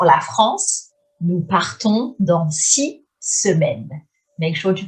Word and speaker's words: six: Nous partons dans 6 semaines. J'ai réservé mes billets d'avion pour la France. Nous partons dans 6 semaines.